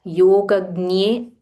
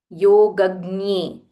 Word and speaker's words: योगज्ञे: So in this Yogagnye and Sarvagnye, so I was researching about this exact pronunciation of this letter. It is actually J plus Nya combined.